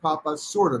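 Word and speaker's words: Papaçorda: pop asorta p-a-p-a-c-o-r-d-a but pronounced papa sorta not corta papasura it's in the time-out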